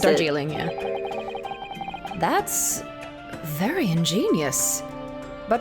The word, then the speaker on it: Darjeeling: Is that how you pronounce it? Darjeeling, yeah.